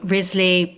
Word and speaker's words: Wriothesley: Um, we all normally pronounce Southampton's name Rizley, but his descendants claimed in the 19th century, who knows if this is true, but they claimed that in the late 16th century it was pronounced Rosley.